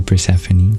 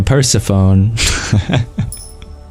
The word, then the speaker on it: Persephone: to see you dear Mike and thank you pranie is that how you pronounce your name I feel like I remember